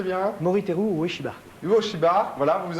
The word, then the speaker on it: Moriteru: Alors, Moriteru, prononcez bien. Moriteru Ueshiba.